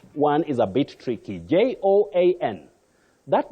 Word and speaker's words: Joan: But don't say Joanne. Joanne, no. You have the slight glide or vowel glide. Oh, Joan. Joan, not Joanne the way we said it locally because of what we see.